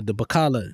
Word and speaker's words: bakkalah: And I remember when the police came, I ran into the grocery, the Bacala, not Bacala, that's what we call the stores in Saudi.